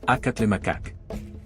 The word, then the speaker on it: Acatlemacac: La grafía española que acompaña a este glifo indica que el nombre se pronuncia acatle macacak.